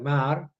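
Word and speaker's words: Maher: disparos se llama Robert se escribe maer con h intercalada se pronuncia Robert mar es ya digo el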